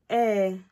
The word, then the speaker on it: ee: So next one would be yes in Igbo means eh, eh, eh, like double E, eh, like you, eh, eh. So that's the thing, that's how you say it, eh.